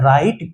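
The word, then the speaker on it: write: तो WRONG होता है रॉन्ग, WRIT होता है राइट, क्योंकि R के W के जस्ट बगल में R बैठा हुआ है। W के जस्ट बगल में अगर R आ जाए तो W क्या होता है, साइलेंट हो जाता है, एकदम चुपचाप हो जाता है।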